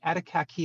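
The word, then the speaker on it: Atikaki: the set um and attic Attica key is the way that that that's pronounced oh thank you thank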